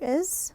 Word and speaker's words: is: then the next letter is my name is sounds like a z doesn't it is my name is